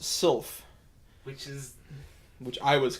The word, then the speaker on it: sylph: Sliff isn't pronounced Sliff, it's pronounced Sylph.